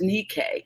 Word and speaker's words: Anike: her name is Mickey it's spelled like Nike but it's pronounced anike and all of her